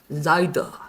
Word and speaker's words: seid: 자, 또 하나 요거는 독일어에서 좀 우리가 주의해야 되는 발음이라고 했어요. I 발음이죠. A가 아닙니다. I 발음이 나요. 그래서 seid가 됩니다.